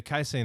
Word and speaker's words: casein: I've also, this is another thing, I've started on casein.